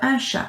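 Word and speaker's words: chat: got now okay there's shall finish with a t at the end but have you noticed it's a quiet consonant again that's what you say repeat after me which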